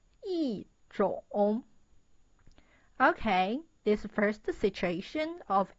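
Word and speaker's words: 一种: The original pronunciation is 一种. But the sound is not good. So it changed to 一种.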